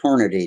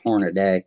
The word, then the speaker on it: Hornady: It's Hornady, not Hornaday.